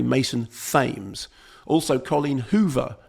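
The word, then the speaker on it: Mason Thames: in uh Regretting You, I said Mason Tames, which is how it's spelled, but apparently Fames. Apparently Mason Fames.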